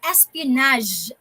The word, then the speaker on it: espionage: war and military action others are spy and espionage action and others like the martial arts actions